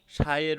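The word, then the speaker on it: psi: সাই, এই দেখো ত্রিশূল আকারের একটা প্রতীক, এটাকে সাই বলা হয় কিন্তু বানানটা পিএসআই, সাই উচ্চারণ হবে সাই।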